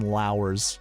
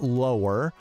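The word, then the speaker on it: Justin Lowe: Justin Low's name because he likes to say it lower but if you go to the PJ Tour website and you look for the pronunciation it literally says under pronunciation rhymes with power so we're going Sheamus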